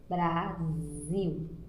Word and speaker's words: Brasil: Nós escrevemos com S a palavra Brasil, só que na hora de pronunciar, a pronúncia sai com Z. Brasil.